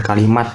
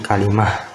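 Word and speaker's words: كلمة: Bacanya jangan kalimat biar nggak ketukar, tapi kalimah gitu.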